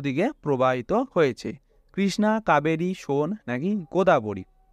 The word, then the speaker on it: সোন: সোন নদী অর্থাৎ উচ্চারণ হচ্ছে সোনে। যমুনা নদীর পরে গঙ্গার দক্ষিণ উপনদীগুলির দ্বিতীয় বৃহত্তম নদী।